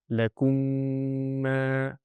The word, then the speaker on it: lakum ma: So when I'm going in a flow of recitation, I have to say the whole thing properly and merge the two mims. The correct pronunciation will be lakum ma, and that nasal sound will be produced.